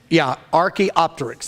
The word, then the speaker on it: Archaeopteryx: one of their great proofs is, and somebody pronounce that for me again, because I freeze on it every time. Archaeopteryx. That's the name of it. I freeze up and I just draw a blank. This is Archaeopteryx, and this is the actual fossil.